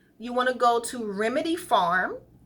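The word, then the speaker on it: Remedy Pharm: You want to go to Remedy Farm, and farm is spelled P-H-A-R-M, Remedy Farm, and the address is 23811 Hawthorne Boulevard, and that's in Torrance, 90505.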